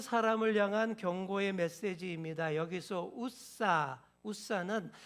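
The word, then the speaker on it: עזא: 여기서 우사 우사는 한 사람의 이름만이 아니에요. 우사는 히브리어로 우자라고 발음하는데이 우자는 힘, 능력, 위험을 뜻하는 말입니다.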